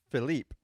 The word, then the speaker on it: Philippe: Whether you're French, And- French Canadian, whatever, it's spelled like Philippe or Philippe. Yes, but he goes on to tell us that his pronunciation is actually Philip, and he spells it out phonetically for us, and FILL up UP Philip.